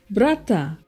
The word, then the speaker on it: brata: For example, brother is pronounced brata, enough, enap, before, bipo, shark, sak, stand or stand up, sanap.